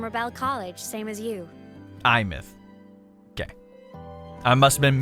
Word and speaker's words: Aemeath: Imth. Okay, I must have been mispronouncing it this whole time.